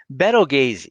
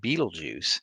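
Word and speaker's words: Betelgeuse: constellation orion just yet beto gaze sometimes pronounced beetlejuice is just about the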